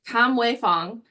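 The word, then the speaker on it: Kamwei Fong: artist and I want to make sure that pronounced his name right it is Kam way Fong and we're gonna we're going to look at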